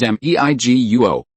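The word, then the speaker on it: 美国: Where's Meiguo? It means America, but the pronunciation is the pronunciation of Chinese pinyin, Ron explained with a smile.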